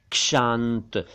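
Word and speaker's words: क्षांति: है और यह है शांत इसका मतलब है पेशेंट एंडोरिंग वगैरह और इसी से बना है शांति शांति नहीं शांति भी नहीं शांति इसका मतलब है पेशेंस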